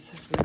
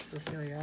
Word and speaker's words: Cicely: Cicely, I think it's Cicely, not Cecilia, I said it wrong.